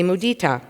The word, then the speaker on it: mudita: I say mudita. Some people say mudita.